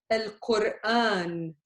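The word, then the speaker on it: القرآن: So there is there's a stop. However, there's a long alif. So if you just write it with this one, you cannot say Al-Quran. You would say Al-Quran. Al-Quran. But you need Al-Quran. You want to stretch it.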